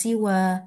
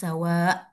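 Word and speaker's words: سوى: Nah di sini dibilang qasr ya qasr ini kalau ada ya tanpa titik ini kita bacanya siwa kayak gitu atau bilmad cuma dua dua ini doang dua dua apa ya dua harakat aja siwa. Nah, bilmad itu dipanjangin lagi ya, sawa kayak gitu dipanjangin lagi ya.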